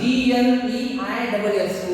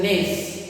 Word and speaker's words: gneiss: Okay, look at this spelling, G-N-E-I-S-S, gneiss. Okay, and the pronunciation of this is gneiss.